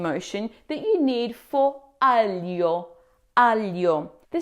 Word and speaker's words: aglio: Now, the most challenging part of this word is the gl sound. In English, we typically say it like a hard G and L, as in glimpse. But in Italian, G L before the vow I makes a soft blended sound just like we saw earlier. Something like the L in the word million.